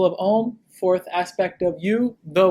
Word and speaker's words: Om: In Sanskrit, A plus U make the O sound. If you combine A and U, mash them up, becomes O. That's why. When you are saying Om, you are saying it correctly.